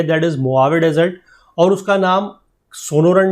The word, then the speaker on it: Mojave: मोआवे, ये जे लगभग इसका यहाँ पर साइलेंट है, यहाँ पर अगर बात करें तो AH साइलेंट है, तो इसका नाम इसको प्रोनाउंस करा जाता है मोआवे डेजर्ट।